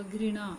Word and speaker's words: घृणा: घृणा, घृणा नहीं सही उच्चारण होगा, घृणा, और घृणा में री की मात्रा लगेगी घ में।